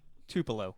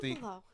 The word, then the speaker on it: Tupelo: But At Tupelo. You just got Tupelo. You basically pronounced it correctly. You just got the emphasis wrong.